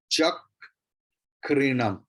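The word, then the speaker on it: चक्रिणम्: च चक then kri, because kra is the conjunct consonant sanyukta varna, and before that cha means a is there, so ka will be doubled at first. Extra ka will be pronounced. Chak krinam.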